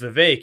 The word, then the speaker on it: Vivek: wrapped and said that his name is Vivek it rhymes with cake so that's why I